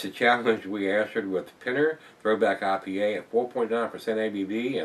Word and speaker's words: Pinner: Could be Pinner or Piner. It's P-I-N-N-E-R, guys. Pinner, I think that's how it's pronounced.